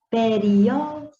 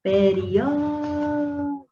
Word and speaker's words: periódico: demorar mais no vim, periódico, viu? Lembra que separa o uri do ó, periódico.